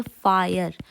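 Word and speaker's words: Feier: फायर शूननन फायर आबिंड तो इस एफ ई आई ई आर को हम प्रोनाउंस करते हैं फायर शूननन फायर आबिंड शूननन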